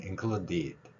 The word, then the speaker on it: included: 그리고 맨 마지막 발음 included, 제가 끝에 뒷소리를 약하게 내는 걸 들어볼 수 있을 것입니다. 이 소리 역시 마찬가지로 우리 글하고는 좀 다릅니다.